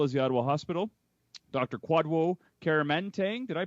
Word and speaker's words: Kwadwo: Kwadwo Kyeremanteng. Did I pronounce that correctly? Please say yes. You're killing it. The first name's pronounced Kwadwo, but the DW is like a J.